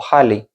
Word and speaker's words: Ahly: La verdad es que si la leemos según las normas de lengua española sería ahí el nombre. Pero todo el mundo la pronuncia como Hali, ¿vale? Así que yo la pronuncio también así.